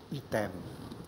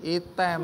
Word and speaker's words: Item: Sebenarnya nama saya, orang tua saya memberikan nama Item. Oh, bukan jadi bukan hitam, tapi item. Item.